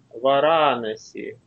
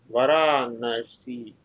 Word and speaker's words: Варанаси: Ну и, в общем, если этим правилам следовать, то получится Варанаси. Варанаси.